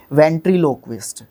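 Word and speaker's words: ventriloquist: वेंट्रीलोक्विस्ट, sorry पहले मैंने गलत बोला था शायद इसको, वेंट्रीलोक्विस्ट, ठीक है। लोकवी, ठीक है, यहाँ पे यू नहीं आएगा।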